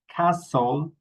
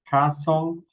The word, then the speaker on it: castle: And we pronounce similarly castle, hassle, nestle. Okay, castle, hassle, nestle. Okay, remember we don't pronounce the t.